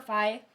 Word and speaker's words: phi: be opposite from fee so fee or phi i flip flop between the pronunciations because i've heard it pronounced both ways so excuse me if i do it both ways so tangent from here